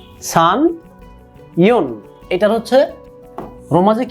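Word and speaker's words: 三: সান। খেয়াল রাখবেন, সান, সা এন, সান। ইচি নি সান। এটা রোমাজি যদি আমরা লিখি এস এ এন, বাংলা উচ্চারণ সান।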